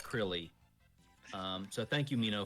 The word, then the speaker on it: Krile: you're mino mino's right it is pronounced crilly um so thank you